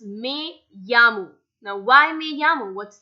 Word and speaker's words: me llamo: It's not mi llamo, it's me llamo. Now why me llamo? What's the reason behind it? So E in Spanish is pronounced as AY and double L is pronounced as Y.